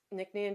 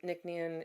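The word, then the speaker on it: Nc'Nean: Um, Nicknian does everything um with the smallest carbon footprint possible.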